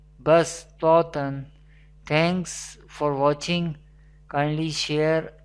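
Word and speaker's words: بَصْۜطَةً: We do not pronounce the letter Sod, but we pronounce the letter Seen. Bastatan.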